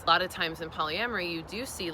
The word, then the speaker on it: polyamory: So, one thing I want to ask you is, you know, you are you have practiced polyamory.